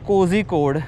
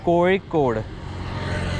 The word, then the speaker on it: Kozhikode: So it's not Kozhikode. ZHI has the pronunciation of Re.